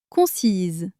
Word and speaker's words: concise: Concise. Ici on ajoute un e. Donc le S se prononce comme un Z.